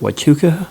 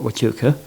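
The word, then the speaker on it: Huachuca: right of this um Fort wuka I believe is how you pronounce it in Arizona which I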